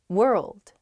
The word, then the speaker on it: world: one's hard world world hard to pronounce that rld i think together is tough plus that w at the beginning as well it's such a short word but you have to say so many weird things at the same time